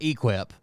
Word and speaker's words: EQIP: look up this program it's spelled eqip there's no u in it it's it's they call it equip but it's not spelled like equip is our equip program